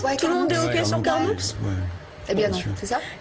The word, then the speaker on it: Carnoux: oui j'habite ici et on prononce carnou et cassis ou Cassi si ça ça dépend des gens comme il préfèrent comme on préfère appeler moi personnellement je dis carnou puisquon dit que ça